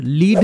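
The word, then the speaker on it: lead: অর্থ অতি ক্ষুদ্র বা খুব ছোট নেক্সট ওয়ার্ড লিড বা লেড এল ই এডি এটার উচ্চারণ যখন লিড তখন এটার অর্থ নেতৃত্ব দেওয়া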